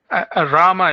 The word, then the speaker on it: Rama: pronouncing your name correctly Rama is fine Rama okay Rama almost like Roma like my name is Roma actually right my short name so Roma that's that's very close okay great all right